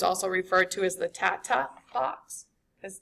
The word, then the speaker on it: TATA box: So sometimes that um print bow uh box is sometimes also referred to as the tata box has t a t a tat ta